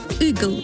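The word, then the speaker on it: ъгъл: А читается он на самом деле как что-то среднее между «ы» и «э». Вот, например, «гилып». А это «игл».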